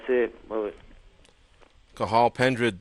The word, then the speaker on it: Cathal: Cathal Pendred. The T is silent. We've been calling him Cathal, but it's Cathal Pendred.